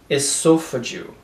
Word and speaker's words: esophageal: So, a gente vai pronunciar o S como S mesmo. Esophageal.